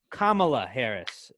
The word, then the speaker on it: Kamala Harris: vice presidents because now kamala harris that's the correct pronunciation i have i have double checked kamala harris is going